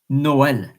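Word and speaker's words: Noël: and the E and it means please pronounce myself my my letter separated as like there are instance an example Noel that's an example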